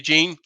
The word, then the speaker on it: Jean: Andy Jean. Yep, it's pronounced Gene, just like our boss, Gene Williams. It's pronounced just like that.